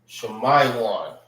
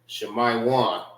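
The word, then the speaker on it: שמעון: Shamayan. All right, that's how you say Simeon in the Hebrew. Shmayan.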